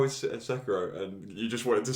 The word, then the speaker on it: Sekiro: Sometimes, if I could, I mean, playing it's Sekiro, isn't it? How you say it? Yeah. Yeah. Sekiro, yeah.